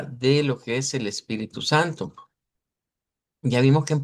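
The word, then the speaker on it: espírito: portugués eh de Brasil, la ES al principio se puede pronunciar como es y se puede pronunciar como IS, más comúnmente como IS. Entonces, esto más frecuentemente eh un nativo hablante nos lo va a decir espíritu, espíritu, pero podemos encontrar variantes que digan con e y que lo digan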